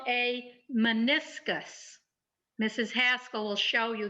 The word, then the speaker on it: meniscus: that with me please meniscus it's kind of a strange word with a funny spelling but it's pronounced pretty much like it's spelled men is gus meniscus